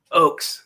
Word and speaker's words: Ochs: Is that how it's pronounced? It Oakes or Ox? Oakes.